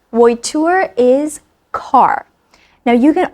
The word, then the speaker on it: voiture: Voiture sounds and looks when it's spelled out a bit like vulture, so I took vulture for voiture.